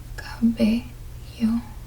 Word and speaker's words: cabello: And notice how with that word, when I pronounce it, the syllable sounds, they are completely consistent with what I taught you. A, E, I, O, U. So, Ka, A, B, E, cabello.